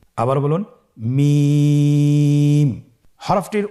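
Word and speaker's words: ميم: মিম হরফটি উচ্চারণের ক্ষেত্রে অবশ্যই বারিক হবে, পাতলা হবে এবং তিন আলিফ টেনে উচ্চারণ করতে হবে। আমার সাথে আরেকবার চেষ্টা করুন। মিম আবার বলুন মিম হরফটির উচ্চারণ স্থান দুই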